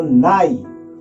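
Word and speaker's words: night: आई जी एच टी, यानी कि जी एच का जो भी उच्चारण होगा वो लुप्त हो जाता है। यानी कि इसे क्या पढ़ेंगे आप? एन आई तो नाई, क्या पढ़ेंगे?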